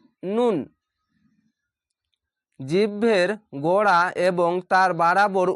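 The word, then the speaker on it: ن: লাগিয়ে হবে লাম এভাবে ভাবে নয় নাম্বার মাখরাজ নুন নুন জিহ্ভের গোড়া এবং তার বরাবর উপরের তালুর সাথে লাগিয়ে উচ্চারিত হয় নুন নুন উপর তালুর সঙ্গে লাগিয়ে হবে নুন উপরের তালুর নুন এই দাঁতের সঙ্গে লাগবে না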